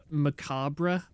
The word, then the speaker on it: macabre: be just a bit macabre. No, you don't pronounce the B part, do you? It's macabre, not macabre.